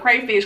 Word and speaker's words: crawfish: But I was surprised that they actually pronounced it crawfish instead of crayfish, considering that they Jamaican.